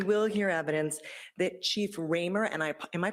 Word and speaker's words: Ramer: expect that we will hear evidence that Chief Ramer and I am I pronouncing that right I am thank you Chief